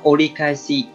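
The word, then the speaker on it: 折り返し: Cách đọc của nó là olikaisi, olikaisi.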